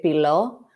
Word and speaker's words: Philo: the end is because in Greek we say philo, but in when I'm not speaking in Greek, I think most people would just say philo. So I pronounce the company name philo.